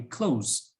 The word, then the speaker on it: clothes: find it difficult so you can pronounce clothes the same way as clothes like close the door so just take out the sound and say close close um by itself clothes